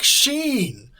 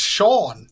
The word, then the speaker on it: Sheen: Please, you may call me Cleric Sheen. Some people say it's Sean. They are wrong.